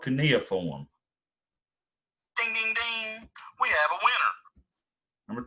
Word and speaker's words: cuneiform: dictation b cuneiform or see nothing it's called cuneiform we have a winner number three how many